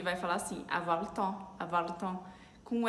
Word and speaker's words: temps: E é importante falar que essa expressão tem a palavrinha temps, tempo, e temps se escreve com P e S, mas o P e o S são mudos, tá? A gente não pronuncia.